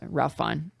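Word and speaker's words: Ralph Fiennes: Yeah, that that's how I pronounce it and that's how I've heard himself pronounce it. So that's that's how you say Ralph Fine.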